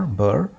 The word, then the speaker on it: ber: let's establish that the verb prefix is sometimes spelled without the r so it's either b e r burr or b e b and also bur can